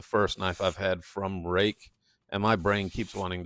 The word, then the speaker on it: Ruike: Um, this is the first knife I've had from Rake. And my brain keeps wanting to say Reich. So, if I slip up and say that, just know it's supposed to be pronounced rake.